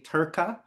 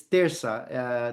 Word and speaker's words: Terça: The one thing that I'll tell you is that some people mispronounce the name of the band. They'll say Turca or Turca, and it's Terça.